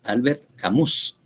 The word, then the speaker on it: Albert Camus: Se llama, el autor es Albert, el nombre se escribe Albert Camus, no es Alberto Mejía, es Albert Camus, Albert Camus, entonces Albert Camus, y el libro es El extranjero.